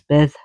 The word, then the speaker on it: Bedd: Her place of rest is called, it's spelled Bed, Bedd, but when you see the double D, it's the, so it's Beth Branwen, and it's supposed to be her supposed grave.